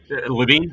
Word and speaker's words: Levine: I'm not sure if it's Levine or Lavine. I apologize. Lavine. Okay.